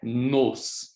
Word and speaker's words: nos: Et ici, c'est nos. Donc, ce sont des mots, sont différents. Et c'est très important, cette prononce de le O qui est différent.